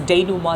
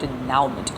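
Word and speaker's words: dénouement: ध्यान रखिएगा pronunciation different है, DENOUMENT, दैट्स डेनूमा, दैट्स नॉट डेनाउमेंट.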